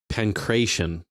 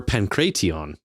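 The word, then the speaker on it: pankration: Pancration. Pancration. Pancratian phonetically. Panc Oh, or Pancraton. That sounds right. Pancraton is the Greek style salabic way.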